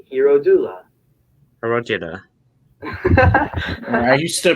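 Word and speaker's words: Hierodula: you pronounce it nah it's like h e i you know r-o-d-u-l-a hero doula hero i used to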